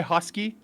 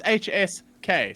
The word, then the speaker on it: HSK: If we put up this thing in chat, uh, if they say husky, I'll call them hosky for time forever. They say HSK, it's HSK. So, giving a lot of power to the trolls right now.